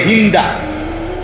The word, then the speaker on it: হিন্দ: যে নারীর নাম হল হিন্দ আমাদের দেশের উচ্চারণে বলে হিন্দা যাই হোক মূলত হল হিন্দ আকারটা নাই আর কি কিন্তু এটা উচ্চারণের একটা ভুল হিন্দা বলে ফেলে তো এই হিন্দ বিনতে